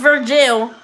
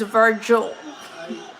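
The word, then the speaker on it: Vergil: the day it's up to you his name is spelled ve RG IL ve naught V I is not Virgil its Virgil and maybe he is I feel like if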